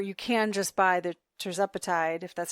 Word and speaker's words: tirzepatide: Terzepatide?